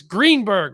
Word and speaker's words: Greenberg: keep going so let's bring stacey uh it's greenberg right yes you know you'd think i would mispronounce your name just once to make you